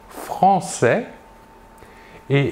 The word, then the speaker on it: française: l'adjectif de nationalité sera français et la job au masculin est l'adjectif de nationalité au féminin sera française nous voyons ici la différence de prononciation nous prononçons le s final et nous ajoutons à